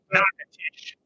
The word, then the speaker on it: Natchitoches: Yeah, Natchitoches. That's how they pronounce it.